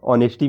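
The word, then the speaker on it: honesty: जिसे, और एक ऑनेस्टी भी होता है, हाँ उसमें एस साइलेंट हाँ होता है। एच साइलेंट होता है।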